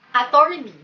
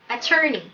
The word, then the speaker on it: attorney: Karaniwan sa mga Pilipino, ang bigkas sa salitang yan ay attorney. Tiin na diin sa pangalawang syllable, attorney. Hindi po. Ang tamang pronunciation po sa salitang ito ay attorney. Attorney. Pakiulit nga.